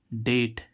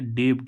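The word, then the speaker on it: debt: क्या होता है ऋण इसको डेप्ट नहीं पढ़ेंगे क्या नहीं पढ़ेंगे डेबड नहीं पढ़ेंगे क्योंकि बी क्या हो गया साइलेंट क्योंकि बी के बाद अगर टी आए तो बी क्या हो जाता है साइलेंट हो जाता है ऐसे ही हम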